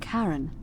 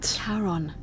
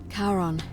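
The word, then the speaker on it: Charon: It's just as you described it, only your pronunciation is a little off. The name you heard wasn't Karen. It was C H A R O N. The underworld. Karon, the fairerryyman of the dead. Karon, who in exchange for the right coin, helps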